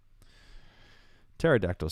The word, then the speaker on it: pterodactyl: make things more confusing pterodactyl starts with the p has a silent p yes it sounds like it starts with t but no it starts with a p i won't even try